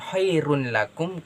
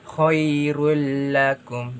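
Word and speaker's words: خَيْرٌ لَكُمْ: Mengapa tidak disebutkan khairun lakum? Karena di situ ada tanda baca tasydid yang kemudian huruf dommatain diubah menjadi dommah. Jadi cara membacanya seperti ini teman-teman sekalian. Khairul lakum. Jadi tidak lagi menyebutkan khairun lakum. Jadi lebih ke khairul lakum.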